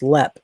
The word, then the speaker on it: Leap: I'll tell you a really cool place is Leap, which is pronounced Lep in Ireland.